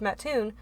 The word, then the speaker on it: Mattoon: went to is in a little town called Mattoon Illinois and not that little I mean it's